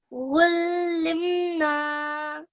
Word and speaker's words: علمنا: علمنا. So be mindful not to pronounce this as a ghain. It's just a like an alif, but it comes from deep down in your throat.